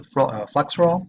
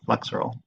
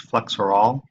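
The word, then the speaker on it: Flexeril: may just call it flexural sometimes this mispronounced flex for all but it's spelled flexural mechanistically it has a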